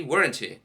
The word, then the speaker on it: weren't: We usually say weren't as one syllable. Weren't. Wasn't has two syllables.